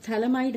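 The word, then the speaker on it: phthalimide: Let's see, यहाँ पर जो थैलामाइड है इसमें P साइलेंट होता है, पर कुछ लोग दोनों तरह से इसे प्रोनाउंस करते हैं, सो एज यू विश।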